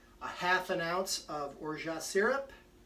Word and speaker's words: orgeat: Then I'm going to use, again for a double batch, a half an ounce of orgeat syrup. I'm told that the T is silent.